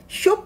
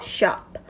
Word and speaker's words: shop: shop 아니고요. shop. 아 발음으로 해주셔야 돼요.